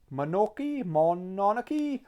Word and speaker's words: Mononoke: And I picked up then Princess Mononoke, yeah, that's how you pronounce it.